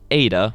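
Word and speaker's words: Eta: And it's pronounced Ada, which sounds like an E.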